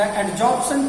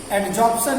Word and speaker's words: adsorption: Sometimes adsorption is pronounced very much similar to absorption, as both are two similar terms, as we are pronouncing adsorption and absorption, but they are totally different.